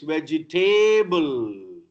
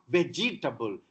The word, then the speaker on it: vegetable: My doctor say, hey, you should always eat fresh vegetable. Not vegetable. It's vegetable. Vegetable. Ja and ta together, no vowel.